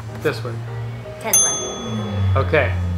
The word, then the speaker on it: Tesla: Tesla. Busy. Say this word. Busy. All right, and now say this word. Tesla. Okay, so you pronounce it with a Z. Yeah, busy. Okay, now the second word. Tesla.